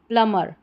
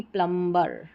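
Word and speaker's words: plumber: ये तो उच्चारण करते ही करते हैं, जो कि जो सही अगर प्रोनाउंसिएशन की बात करते हैं तो गलत रहता है, और इसका करेक्ट उच्चारण जो रहेगा, प्रोनाउंसिएशन, वो रहेगा प्लमर, प्लमर, ना कि प्लम्बर, प्लमर। बी साइलेंट है रूल के अनुसार।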